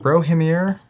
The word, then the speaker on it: Rohirrim: Notably in this set, getting the Rohirrim, I think it's how you say it, the Rohan characters for the first time. It's a whole new faction. Rohirrim, that's it.